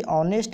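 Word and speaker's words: honest: इसीलिए लगा है क्योंकि ऑनेस्ट में जो एच है उसका उच्चारण ओ यानी अ आ ई जो आप पढ़े थे वोवेल साउंड से हो रहा है, इसीलिए यहाँ पे आर्टिकल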